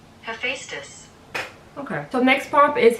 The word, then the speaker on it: Hephaestus: How do we pronounce his? Hephaestus. Hephaestus. Hephaestus.